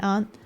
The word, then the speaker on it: aunt: hello this is my aunt auntie aunt aunt ah with the vowel in awe sound like ant with the vowel in caught caught Aunt uh oh